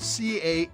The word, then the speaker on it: Cannes: Cannes is a city on the French Riviera known for the Cannes Film Festival. Now, Cannes is spelled C-A-N-N-E-S, but pronounced Cannes without the S.